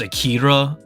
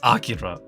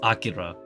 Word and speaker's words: Akira: Akira and whatnot uh uh I know people pronounce it as Akira but it's Akira like oh gosh oh man why do people